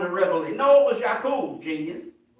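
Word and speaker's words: Ya'qub: If you say his name in Arabic, you say Yak.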